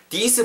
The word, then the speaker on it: these: 뒷부분에 you put these, these 발음을 우리가 좀 더 잘해야 될, 주의를 해야 될 필요가 있을 것 같아요. this는 여러분 말 그대로 this 이거잖아요. these, these 길게 발음하고 뒤에 z로 끝나야 복수형으로서 우리가 의미를 전달할 수 있거든요.